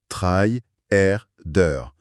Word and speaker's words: tryharder: On entend « tryharder », je le prononce doucement, « try-er-der », jouer avec une intensité extrême pour arracher la victoire.